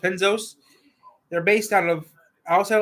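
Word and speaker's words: Panoz: Panos.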